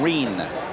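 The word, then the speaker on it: Rein: Correction, Reen. R-E-I-N is the way the name is spelled.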